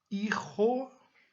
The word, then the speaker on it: hijo: Hijo, hija. Olha a pronúncia, J tem som de R.